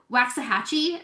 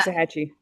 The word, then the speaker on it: Waxahachie: Like you're out in Waxahachie. If I don't even know if I said it right. Uh, Waxahachie.